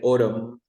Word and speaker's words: autumn: This is one of the most difficult words because people pronounce the end, but we never say autumn. No, we say autumn.